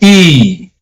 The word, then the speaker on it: i: I is pronounced as E.